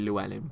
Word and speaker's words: Llewelyn: And we've got King Llewelyn. You can just say Llewelyn, but I believe it's properly pronounced Llewelyn.